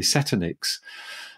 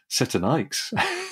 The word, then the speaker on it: Setonix: It's got a nice name, actually, and I'm not sure whether I'm pronouncing this correctly, Setonix. And potato, it's named potato. After, pardon? Potato. Yes, that's right. Oh, so it could be Setonix.